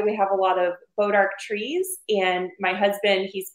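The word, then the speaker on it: bois d'arc: have a lot of bodark trees and my husband he's part French and bodark the way that they spell it's a French word um so anyways came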